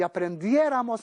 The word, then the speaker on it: aprendiéramos: Suprimimos ron y añadimos raras, raramos, rais, ran, y decimos aprendiera, aprendieras, aprendiera, aprendiéramos, aprendierais, aprendieran, y aprendiéramos nosotros acento en la E.